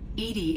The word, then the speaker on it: EDI: okay oh is it eddie or edie i've already forgotten edie edie is the phonetic pronunciation of edi that is an acronym for enhanced defense intelligence um defense huh you